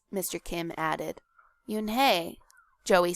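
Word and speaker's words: Unhei: Joey she nodded slowly yes it's pronounced Yun and it means Grace Mr Kim added Yun Joey said slowly and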